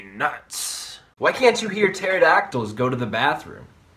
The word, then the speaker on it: pterodactyl: why can't you hear pterodactyls go to the bathroom because the p is silent what did the pirate